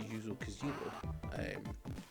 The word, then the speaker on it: Yuzo Koshiro: has a fantastic soundtrack from, I believe it's pronounced Yuzo Koshiro, which is probably a horrible bastardization I pulled off.